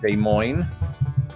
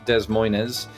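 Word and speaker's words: Des Moines: remembered this one um which is De Mo um is that how you pronounce it locally I'm assuming it's not Des Moes as uh is um comically uh the pronunciation among many who are just messing around I think Kansas oh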